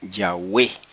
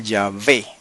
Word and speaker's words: Yahweh: base para entender que la forma antigua y correcta del nombre sagrado es Yahweh, solamente que se puede pronunciar Yahvé, si usted quiere, según el hebreo moderno, pero el hebreo antiguo era Yahweh.